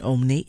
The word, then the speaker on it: emmener: So even though they both appear to have an E followed by a double M, because of where the letters fall in the syllables, femme is not nasal, but the EM in emmener is. Emmener.